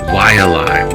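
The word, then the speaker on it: Waiʻalae: The W in the front of a word is wa, like Waianai, Waialai, wa.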